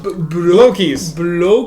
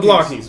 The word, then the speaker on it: Blokees: The Chinese pronunciation. I went down a rabbit hole to try and figure out who was right. It's bui. That's how they say it in Chinese.